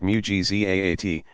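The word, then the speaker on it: معجزات: They called the works God did as proof of his prophet's truthfulness evidentiary miracles, mu'jizat. Pronounced mu'jizaat, and those effected by friends of God marvels, karamat, pronounced karamaat.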